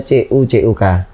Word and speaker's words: Tjutjuk: aneh ya Sis Farin sebenarnya kalau ejaan baru itu harusnya Cu cuk kalau ejaan lama harusnya tcoe tcoek ini kan Nama saya kan tju tjuk jadi ya saya maklumlah